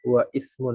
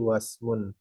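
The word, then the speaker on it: وَاسْمٌ: misal dibaca di tengah-tengah kita enggak baca wa Ismun tapi wasmun dan kita juga enggak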